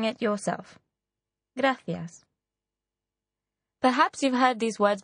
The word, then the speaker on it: gracias: welcome to Malaga the reply to this was graas thank you in this word the letter c is pronounced like the English listen again and practice saying it yourself graas perhaps you've heard these words before too Barcelona